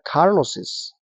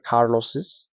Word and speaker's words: Carlos's: Pero eso no implica que no tienes que pronunciar Carlos's. Igual tienes que pronunciar Carlos's, James's, Lucas's.